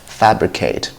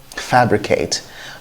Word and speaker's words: fabricate: into it the first word we've got here is fabricate fabricate not fabricate next is fabulous fabulous